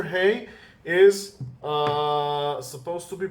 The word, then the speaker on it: ה: write and now we will learn the letter Hey okay the letter hey is supposed to be pronounced like hey okay this is the correct